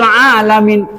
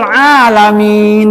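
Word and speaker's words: العالمين: Kalau tidak dipanjangkan, Robbil alamin, Tuhan yang sakit, jauh sekali. Robbil alamin dipanjangkan, Tuhan pencipta semesta alam, al-alamin. Tapi kalau Robbil alamin, Tuhan pencipta sakit.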